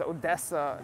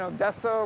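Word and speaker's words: Одеса: Likewise with Odessa, it's Odessa in Ukrainian, but Odessa in Russian.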